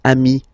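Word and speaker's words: amis: here okay but then technically you pronounce it the same way so singular form Ami plural form you add this s but it's Ami as well okay in that case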